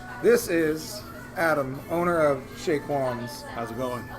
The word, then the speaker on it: Chez Quans: This is Adam, owner of Chez Quans. How's it going? Chez Quans. That's C-H-E-Z, Quans. So, Silent Z. so we're gonna come. The Z is silent like lasagna.